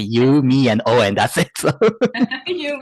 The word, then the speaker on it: Yumio: I was lucky that my name is pretty easy because you you just say you me and O and that's it so